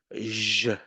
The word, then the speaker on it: je: in French, studying French, they pronounce it like letter J. So they say je t'aime. Je. No, not je. Come on. It is pronounced je. Je. So what is it? It's a SH sound, shh, but voiced.